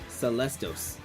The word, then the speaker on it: Skelestos: The S is silent. Okay, so it's gonna be Celestios. Wait, Celestos. Celesto. Yeah, that makes more sense now.